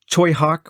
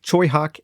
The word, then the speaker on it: Tsui Hark: and that is uh toyhawk which is his name is is spelled tsui hark so you've heard his name mentioned on the dungeon dive before tsubi heart choi hak and ching shudong uh